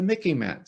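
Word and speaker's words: MICIMATT: The rest of the deep state, the rest of the Mickey Mat. So remember, it rhymes with Mickey Mouse.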